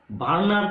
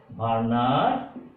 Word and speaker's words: Werner: ডাব্লিউ, এটি ডাব্লিউ, বার্নার যদি ডাব্লিউ, এটা উচ্চারণ ডাব্লিউ ই আর এন ই আর এস, বার্নার theory of coordination.